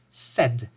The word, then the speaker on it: said: However, here the sound is E, E. So it is say, but here it is said, said.